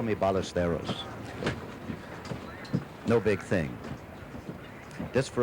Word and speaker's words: Ballesteros: In his country, it would be pronounced Ballesteros, but I understand in an effort to make it easier for his American friends, he says, call me Ballesteros.